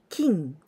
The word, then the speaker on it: 金: And this kanji, kane, we can also pronounce kin. Kin means gold.